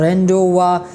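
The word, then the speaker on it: rendezvous: और फिर अ अ रेंडवा रेंडवा इसमें जेड जो है ये साइलेंट है इसके बाद नो में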